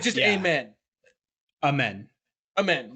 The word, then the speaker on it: Amen: yeah, It's just yeah, amen. amen. Amen. Like Yeah, so it's like it's still the instead of a, but the emphasis men. is on the second syllable, not the first.